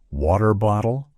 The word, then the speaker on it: water bottle: mimic an American accent he would repeatedly say water bottle water bottle water bottle this phrase exemplifies the